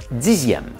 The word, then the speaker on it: dixième: Alors qu'on écrit dixième aussi avec un X, mais que cette fois-ci on prononce comme un Z.